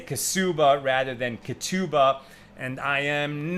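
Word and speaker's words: Ketubah: So modern Hebrew is based on Sephardic pronunciation where we would say Katuba.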